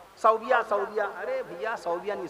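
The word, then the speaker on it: ثويبة: की किताब आपना आप एक नाम पढ़ते हैं सौबिया सदिया अरे भैया सदिया नहीं सुबा अबू लहब की बांदी जिसने प्यारे नबी की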